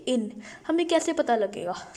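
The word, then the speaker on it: une: लब्ज आ जाता है इन यू एन ई इन अब अगर आप इसको इंग्लिश स्टाइल में देखें तो आप लोग का उने लिखा हुआ है उने हालांकि उने नहीं है इसका मतलब होता है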